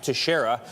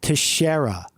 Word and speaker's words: Teixeira: His name is Jack Teixeira. At his home in Massachusetts, that's him, hands on his head in the red shirt. The only thing mainstream media is good for is pronunciation. Jack Teixeira.